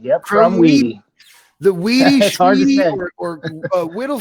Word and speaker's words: Krumwiede: Krumwiede. Yep. Krumwiede.